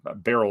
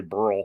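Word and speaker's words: Beryl: of the Season uh this is Barrel or Burl Barrel is how you say it but I want to say Burl all the time anyway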